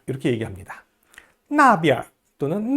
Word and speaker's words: 边: 지시사나 방위사 뒤에 나오는 비엔자는 약하게 경성으로 발음합니다.